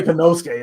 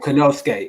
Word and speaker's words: Konosuke: You can say Konosuke. That's easy to pronounce. All right, Konosuke.